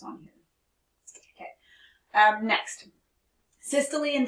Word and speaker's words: systole: able to focus on here okay um next systole and diastole is how you say these words